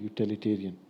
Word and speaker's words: utilitarian: Yeah, I show you utilitarian. Okay. Now, this utilitarian. Okay. This is also three syllables also.